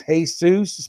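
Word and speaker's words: Jesús: that's my wrestling name my first name is hey soos my late Jesus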